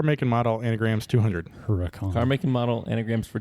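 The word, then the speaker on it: Huracán: It's pronounced hurricane. No. It's Huracan.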